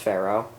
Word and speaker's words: Ferro: I believe it's pronounced Ferro.